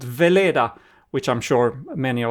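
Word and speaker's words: Wala: It's a German double V. So I pronounce it Vela, nota, just for our English listeners.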